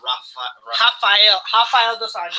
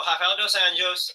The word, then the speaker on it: Rafael dos Anjos: Yes, you have to pronounce it with the Portuguese, and they like instead of Spanish. Instead of Spanish words, like I don't know. You can you can roll your R's better, but whereas you roll it, it's ha. Yeah, it sounds like a H.